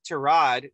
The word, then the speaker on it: tirade: Chino over there says tirade, which is actually the correct French way of saying it, but I say tirade.